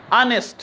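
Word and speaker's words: honest: मिसाल के तौर पर हमारे पास एक लफ्ज है ना, इधर लिखता हूं ऑनेस्ट, ये एच साइलेंट है, तो ये एच वावल है या नहीं है? इफ्तिखार नहीं है, लेकिन वावल की आवाज देता है, इस वजह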